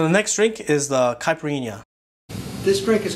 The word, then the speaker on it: caipirinha: of things he says right but he like pronounces everything wrong so the next drink is the caipirinha this drink is called a capriana caprina wait how did he say it capriano